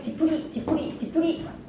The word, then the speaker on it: 뒤풀이: 어근과 어근이 결합할 때 뒤에 예사 소리가 된소리로 발음이 나거나 니은 미음 앞에서 니은이 덧나거나 모음과 모음 사이에서 니은 니은이 두 개가 덧날 때 사이시옷은 들어온다. 근데 뒤풀이 하는 거에서 예사 소리가 된 소리로 발음이 났을 아니면 거센 소리예요. 거센 소리예요. 그냥 뒷풀이 하지 말고 그냥 뒤풀이 하는 거. 뒤풀이 예사 소리가 된 소리로 발음이 나야지 사이시옷을 넣으니까 지금 거센 소리가 왔다. 푸푸푸 거센 소리. 사이시옷 넣지 말자. 됐나요?